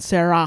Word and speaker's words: Sarah: Is the H silent? Yeah, the H is silent. No, you breathe at the end. Sarah.